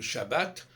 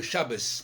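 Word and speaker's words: שבת: Par exemple, le Shabbat, on disait Shabbos, parce qu'effectivement, le T, le Tav avec accent, avec Dagesh, se prononce Te, et sans Dagesh, Fe.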